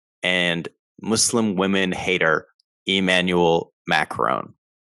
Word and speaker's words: Macron: muslim women hater emmanuel macron i love the way you say matt meckle it's macron colin macron he deserves